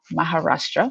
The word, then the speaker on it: Maharashtra: Maharashtra, want to make sure to pronounce that correctly, which is the western state where Mumbai is located.